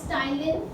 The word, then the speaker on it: ptyalin: उसके बाद very important in saliva is that it हैज an enzyme named as ptyalin. P is silent, ptyalin और salivary amylase, ठीक है.